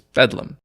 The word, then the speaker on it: Bethlehem: Apparently, a common way of pronouncing Bethlehem at the time was Bedlam, and the priory turned